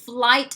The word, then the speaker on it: flight: คำนี้ flight นะคะไม่ fight ถ้า fight เนี่ยต่อยละอันนี้ flight มี L ด้วยโอเคแล้วก็ออกเสียง T ด้วยหน่อยๆแปลว่าเที่ยวบินค่ะ Okay.